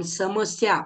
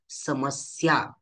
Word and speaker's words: समस्या: अशा पद्धतीने उच्चारण करतो समस्या आपण समस्या असं म्हणतो का नाही म्हणत तर समस्या स्या जे जोड अक्षर आहे त्यामधील पहिला अक्षर स याचा आपण जोर देऊन उच्चारण करतो समस्या याप्रमाणे असत्यम असत्य म्हणतो का